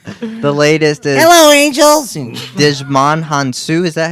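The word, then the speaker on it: Djimon Hounsou: Digimon Hansu. Is that how you say it? Yeah, Jamon Hansu.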